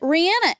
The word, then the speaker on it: Rihanna: She pronounces it Rihanna, and that is...